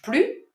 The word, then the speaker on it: plus: Je ne mange plus de chocolat. And in that case, also note that you do not pronounce the final S at plus.